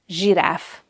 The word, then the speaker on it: zsiráf: And the last one is the letter combination ZS. And this letter is the letter J. It has the J sound, like in the English word pleasure or vision. The word for giraffe in Hungarian is zsiráf.